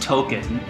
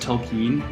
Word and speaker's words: Tolkien: will say from my my final thoughts it's pronounced token and they can tell me all they want that it's pronounced tolkien but like it's pronounced token that's what i'm